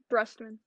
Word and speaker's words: Brustman: How do I pronounce his name? Brustman or Brustman? Brustman.